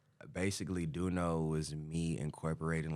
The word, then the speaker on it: Döuno: I am joined by duno right duno that's how you say it yeah Doo wrong do